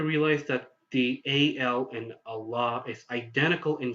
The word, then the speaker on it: Allah: Islam and Muslim now there are english-speaking Westerners such as Americans who pronounced the AL in Allah as the AL in alexander whereas when if you want to say the AL in allah the way is actually supposed to be you know sade or